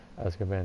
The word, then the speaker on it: Azkaban: that's definitely Hall is part to prison to Azkaban or money yeah this is it both great